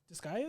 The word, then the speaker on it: Disgaea: Disgaea, yeah. Disgaea? Yeah. Yeah. Answer that for us. R is silent.